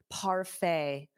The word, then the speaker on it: parfait: Notice that pronunciation, the T is not pronounced. So it ends on a fay, a parfait, parfait.